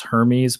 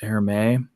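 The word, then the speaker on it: Hermès: is for the and I always pronounce this Hermes but I guess it's air may because it's spelled like Hermes anyway that's all steel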